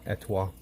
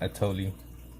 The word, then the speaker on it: et toi: So that's how you say it. Et toi. Not etoli.